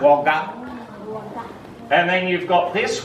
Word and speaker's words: Wagga: Wagga. Hey, see how it ends with an up sound? Wagga.